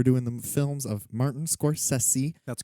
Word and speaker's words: Scorsese: podcast here we're doing the films of martin scorsese that's correct that is how it's pronounced this is the sexy session yeah this